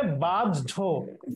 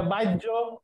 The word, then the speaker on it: বাহ্য: তার মানে এটা উচ্চারণ হচ্ছে বাজ্য, এরকম এটা বাজ্য, এটা বাজ্য, এটা বাহ্য, এটা কোনোটাই হবে না, উচ্চারণটা হবে বাজ্য, তার মানে হয় সাথে